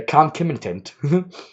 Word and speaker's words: concomitant: to stressors and the concomitant, can you ever pronounce that word? The concomitant exposure to high levels of glucocorticoids in the brain.